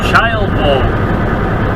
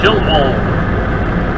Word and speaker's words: Childwold: Rolling into Childwold, or Childwold. Here we go with the poor town pronunciations.